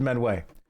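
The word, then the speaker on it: Miounne: You pronounce it menway. No matter your ambitions, the guild is here to help you attain them. Thank you, Mother Minwi.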